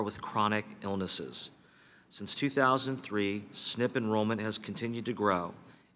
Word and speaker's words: SNP: longest reauthorization of the Medicare SNP pronounced snip program since its creation